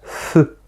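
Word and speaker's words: ふ: Ah là, par contre, on va pas dire he, on va faire feu. Pour ça, je mets un F ici.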